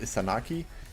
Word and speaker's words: Izanagi: Fun fact, the Japanese god Izanagi, some dialects is pronounced Isanaki.